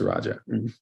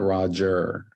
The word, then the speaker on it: Raja: Just so you know, the correct pronunciation of my name is Raja. It's not Roger. It's Raja.